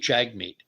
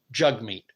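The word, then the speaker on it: Jagmeet: po poeva you know whatever but jug meat Jag meat it is spelled Jag meat but it is pronounced according to the man himself the proper pronunciation is jug meet and I think it's simply a matter of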